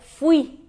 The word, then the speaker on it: fui: Fui, mas na verdade é fui, fui. É um heterotônico, né? Muda a sílaba tônica em relação ao português.